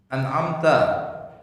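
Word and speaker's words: أنعمت: Jadi jangan dibaca an samar jangan. Ini jelas an'am. Nah ini galak terbalik, kadang-kadang. Galak am. Merubah. Kalau bacanya am itu jadi tidak sah di salatnya. Kenapa? Karena merubah makna. Ya. Jadi harus an'amta.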